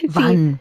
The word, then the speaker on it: wann: Es una V, una V vibrada, ¿no? Ajá. Quiero decir, la W en alemán, uh-huh. Aquí se escribe con W, es vibrada. Entonces es wann.